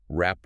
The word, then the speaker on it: wrap: Like the silence in words like wrap with a W and write with a W isn't a phonetic mystery at all.